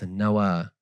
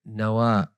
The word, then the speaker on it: Nawa: And An-Nawawi means that he's from the village of Nawa. It's a short drive from the blessed city of Damascus. But you can also say Nawa.